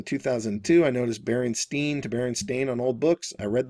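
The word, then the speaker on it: Berenstain: 70s always used to wonder why customers pronounced it Baronstein when it was felt Baron Stain.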